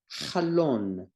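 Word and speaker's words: חלון: There's a flat line underneath the chet. Patach sounds like a.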